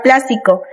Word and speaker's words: plástico: Como primer ejemplo tenemos la palabra plástico. Esa palabra es una palabra esdrújula ya que la sílaba tónica es la antepenúltima.